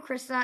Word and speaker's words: Christa: How are you, Christa?